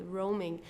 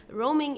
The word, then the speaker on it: Roaming: Roaming is an English word and for this reason we have to pronounce it the English way. Okay, roaming. So we don't say it as it would be in German like roaming or so it's roaming.